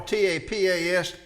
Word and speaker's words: tapas: So as I say, it's hard for me to pronounce tapas and not you to think topless.